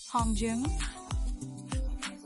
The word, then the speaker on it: Hongjoong: The group consists of Hongjoong, Seonghwa, Yunho, who right now looks nothing like Yeosang, Yeosang, he's cute.